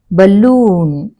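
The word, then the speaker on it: balloon: B easier for యు బలూన్ ఇక్కడ పెడుతున్నాను stress నేను okay option one is your answer బలూన్ ల మీద స్ట్రెస్ పడతాను విచ్ సిలబుల్ ఇస్ స్ట్రెస్డ్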